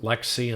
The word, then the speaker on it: LXC: could be an lxc or lxd container otherwise pronounced lexi and lex d properly but i tend to